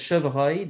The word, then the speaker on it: chevreuil: But this chevreuil, this R, is often not as strongly pronounced as when we say, for example, vendre, or grand or grenouille. These GRs or DRs, those are much harder R's than when we say un chevreuil.